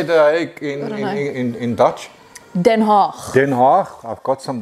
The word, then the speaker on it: Den Haag: Den Haag.